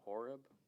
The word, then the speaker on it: Horeb: He goes to Mount Horeb. Yeah. Is that how it's pronounced?